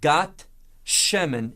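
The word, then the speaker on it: גת שמן: Now, that's important that you see that term, Gat Shemen, in Hebrew. Now, you know it as Gethsemane. But I want us to hear it as the way that it's literally pronounced because it has meaning.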